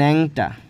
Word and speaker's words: ন্যাংটা: নিয়োগটা বললাম নেংটা, ন্যাংটা, এটা উচ্চারণটা নেংটা না ন্যাংটা আর কি। তো বললাম ন্যাংটা, তাহলে কি ন্যাংযোগ তা, জাস্ট খালি টাটাকে আলাদা করে দিলাম।